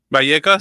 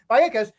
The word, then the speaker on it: Vallecas: But we went to Vallecas, right? That's how you pronounce it. Vallecas. Yeah. Vallecas, excuse me. I need to pronounce her name right. Vallecas.